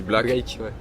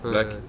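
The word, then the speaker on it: 6lack: Après, je prendrais un exemple d'un Américain qui s'appelle, enfin ça s'écrit Six Lack, mais je crois que ça se dit Black. Black.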